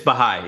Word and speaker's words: Baha'i: Is that how you pronounce it? It's Baha'i.